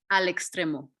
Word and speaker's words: Al Extremo: Al Extremo. Alex Stream. Exactly. ALEXTREMO.